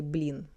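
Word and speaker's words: блин: So another alternative people say blin.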